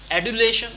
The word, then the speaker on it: adulation: So this word is sounding J. Okay, and British people might have a bit of a different pronunciation. They sound D here. American, they sound J. So if I was to go with American pronunciation, that will be adulation. Adulation. But if it is British pronunciation, it might go adulation. Adulation. So they might sound D instead of J here.